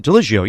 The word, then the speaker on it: Ligio: Port Chester, Artistic Director Carole, Alexis, and Frank Ligio. Is that right? Ligio, yes.